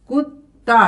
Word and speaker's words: कुत्ता: कुत्ता, double T का जब साउंड आएगा तो जब डबल टी यहां होगा तो डबल टी का साउंड आएगा।